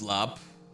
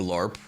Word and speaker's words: larb: Pronounced lap or larp or lab.